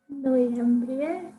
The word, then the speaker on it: Noiembrie: Noiembrie.